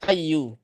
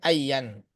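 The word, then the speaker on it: أيُّ: Jadi kalau nakiro maksudah itu mabni di atas dhammah sehingga dibacanya ayyu, bukan ayyan.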